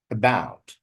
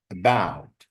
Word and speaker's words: about: About, about. The stress is on the second syllable, not about, about.